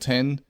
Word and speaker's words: iPhone X: Of course, you said you still pronounce it X. Most people I know still pronounce it X. I don't even want to go into explaining to people why it's called 10.